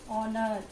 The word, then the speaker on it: honor: H is silent. R. Honor.